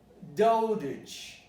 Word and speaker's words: dotage: But if it comes at the end of the word and the stress is not on age, okay? It changes completely. It changes into a schwa. So let's listen to the pronunciation of age very carefully, and then dotage. You can see there is a schwa there.